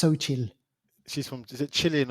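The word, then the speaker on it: Xochitl: by an actor called sochil gomez that's how you pronounce the name but it's with an x but it's pronounced sochil she's from is it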